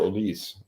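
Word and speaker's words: Olise: of pronunciation things uh I believe we should call him Michael oise not because he does not have an accent mark on that e so I think we've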